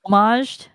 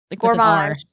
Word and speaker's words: gommaged: GMaged. Yeah. How am I saying it wrong? Yes. You've been saying goremaged. How there? It's gage.